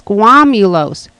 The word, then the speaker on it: squamulose: I'm saying it wrong. It's squamulos.